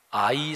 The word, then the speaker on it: 아이: 그 다음에 공격할 성은 아이 성이라고 히브리어 발음이 그래요 우리말의 어린아이 할 때 발음이 비슷한데 그런데 재미있게도 아 이